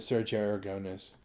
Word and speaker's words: Aragonés: Okay, a lot of people know that I'm a friend of Sergio Aragonés. And isn't it funny we all say it like Americans instead of Sergio Aragonés?